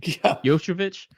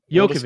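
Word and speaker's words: Jokić: uh not LCA uh Jo jovic I can't say his name yovich Jo the Denver guy yovic go the Denver guy yeah so it's yovic right H's won three or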